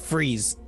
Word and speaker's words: frieze: It's pronounced freeze.